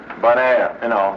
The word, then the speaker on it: Bonaire: Bonaire, bon, good, air, Bonaire.